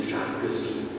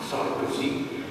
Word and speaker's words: Sarkozy: Sarkozy, by the way, having some Hungarian origin, his father was Hungarian, but we pronounce his name Sarkozy, not Sarkozy.